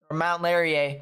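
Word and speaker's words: Mont-Laurier: as well as uh Mont larer Mount larer I believe it's how it's pronounced Mount larer yeah mount larer that's right Mount larer um yeah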